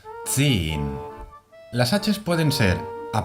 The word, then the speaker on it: zehn: Aquí volvemos a tener la Z, que es una TS. Tz. Y también vemos una H que no pronunciamos. Zehn.